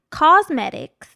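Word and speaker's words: Causemetics: off listen to me it's spelled a little differently yes it's cause like a cause for a good cause that's thrive cosmetics dot com slash bravado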